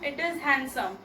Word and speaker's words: handsome: Now here no comparison, so positive degree, handsome. D is silent in handsome. It is not handsome, it is handsome.